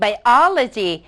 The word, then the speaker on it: biology: ด้วย คำ ว่า Logic การ stress เสียง นั้น จะ เกิด ขึ้น ก่อน หน้า คำ ว่า logy เพราะ ฉะนั้น น้อง จะ ออก เสียง ว่า psychology Biology นะ คะ sociology cardiology cardiology แปล ว่า